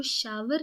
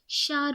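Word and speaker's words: shower: यहाँ पर आपको शार की प्रोनाउंसिएशन का ध्यान रखना है। आपको शावर नहीं बोलना है, शार बोलना है।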